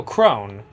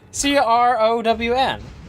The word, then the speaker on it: crown: Oh, crone. What? Right? C-R-O-W-N. You put it on your head. Oh! Crown! Got it!